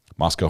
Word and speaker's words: Moscow: Moscow rhymes with Costco.